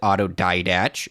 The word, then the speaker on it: autodidact: One, what I learned is that Matt didn't pronounce it autodidact.